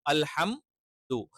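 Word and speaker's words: ٱلْحَمْدُ: അൽഹം ദൂന് പകരം എന്ത് ചെയ്യാൻ പാടില്ല, ന്ദു എന്ന് പറയാൻ പാടില്ല. അത് ചിലപ്പോൾ കൂട്ടി ഉച്ചരിക്കുമ്പോൾ അത്തരത്തിലുള്ള ഒരു ഉച്ചാരണം വരാനുള്ള ചാൻസ് ഉണ്ട്. അൽഹംദു, അൽഹംദു അല്ല. അത് എന്താണ്, അൽഹംദു എന്ന് പറയുമ്പോൾ നൂന് വരും, സുക്കൂനുള്ള നൂന് എക്സ്ട്രാ വരും. അതൊരിക്കലും വരാൻ പാടില്ല.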